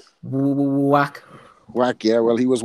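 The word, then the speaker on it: Wach: Is it Vac or Whack? Whack.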